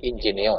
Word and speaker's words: Ingenio: Ingenio adalah dari bahasa Latin kecerdasan, dibacanya Ingenio ya. Kalau orang Sunda Ingenio ya, tapi bahasa ininya Ingenio.